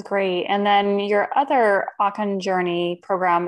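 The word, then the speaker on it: Okan: And Akan is spelled O-K-A-N.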